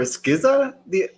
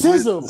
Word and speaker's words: SZA: Did you call her Skizza on IG? You said I don't know how to pronounce her name. Swizza? Yeah. It's SZA, bro.